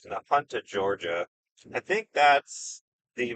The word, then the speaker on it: Nahunta: We can pop, we get north to, no, I think it's Nahunta is how to pronounce that. Nahunta, Georgia.